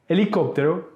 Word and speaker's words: helicóptero: For instance, vehículo, vehicle, prohibir, prohibit, helicóptero, helicopter. In these words in Spanish, H is silent.